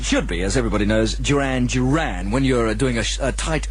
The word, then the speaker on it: Duran Duran: That's a new entry, Duran Duran and another called Planet Earth.